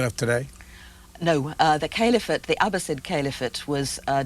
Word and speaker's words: caliphate: because they had their own authentic revelations you pronounce it caliphate the caliphate yes what is that well uh